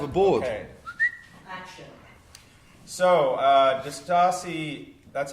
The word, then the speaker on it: Distassi: So, Distassi, that's how you say it, Distassi, right?